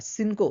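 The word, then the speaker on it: cinco: সেটা হচ্ছে যে যদি লাতিন আমেরিকান স্প্যানিশ হয় তখন সেই সিটা কিন্তু এস এর মতো উচ্চারণ হয়।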